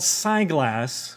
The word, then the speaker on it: SGlass: Lastly, this company called SGlass, which is kind of like spyglass, but without the P.